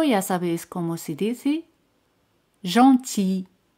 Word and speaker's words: gentil: Gentil. Gentil. L no se pronuncia.